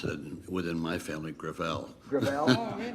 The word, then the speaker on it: Gravel: Senator Gravel. With all due respect, let me correct, I pronounce it within my family, Gravel. Gravel? It's a French name.